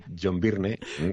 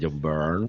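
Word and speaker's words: Byrne: Y pero cuando decías John Birne te miraban raro y ahora como no, hombre, no se dice John Burn. John Burn, que decir John Burn.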